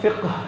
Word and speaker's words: فقہ: ہم فقہ کہتے ہیں، ویسے اس کی صحیح جو تلفظ ہے وہ فقہ ہے، لیکن ٹھیک ہے فقہ